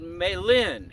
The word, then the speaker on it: Malin: Town called Malin is how you pronounce it, Oregon, pretty close to the California border.